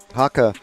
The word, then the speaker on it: Haka: Haka running an MCD. And I have it on good authority from Tom Haka himself. That is how we pronounce his name.